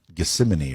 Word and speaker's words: Gethsemane: talking to the father in the garden of gethsemane or something yes that's exactly right great pronunciation and so jesus actually said in his